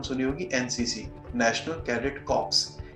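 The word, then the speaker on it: corps: होगी NCC national cadet कॉर्प्स इसमें भी कॉप्स का जो एप्स है और पीएम ओं साइलेंट होता है इसके परिणाम शुभ इसी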